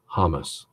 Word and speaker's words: James: that way all right my middle name is James J am es three or four days ago I was watching a Champions League game Bayern Munich as a player whose last name is J am es now I call myself James he pronounces his name hummus is he wrong am I it's boule